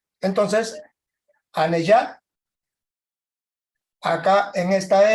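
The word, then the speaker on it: anejad: La J se pronuncia como Y. Entonces, Aneyat, acá en esta M, tiene un puntito arriba, por lo tanto, es una especie de MN.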